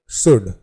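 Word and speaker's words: should: Our next word is शुड। शुड का अर्थ चाहिए होता है और शुड में जो है L जो है वो साइलेंट होता है।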